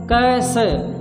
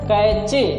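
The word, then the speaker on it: cache: कैश पढ़ते हैं, pronunciation क्या होता है जान लीजिए। प्रोनाउंसिएशन होता है कैश। मैंने बहुत सारे स्टूडेंट को पढ़ते हुए देखा है कैचे। क्या पढ़ते हैं, कैचे। गलत प्रोनाउंसिएशन आप कर रहे थे, कैच का, ये कैच नहीं है, ये क्या है, कैश है।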